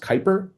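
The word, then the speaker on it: Kuiper: Uh, some of you might be aware of Amazon's, uh, lower Earth orbit satellite offering called, I think it's pronounced Kyper, Cooper. Kyper. Yeah, Kyper. Exactly.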